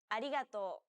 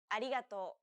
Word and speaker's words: arigato: an l sound listen and repeat after resa arigato arigato well done let's wrap up this lesson by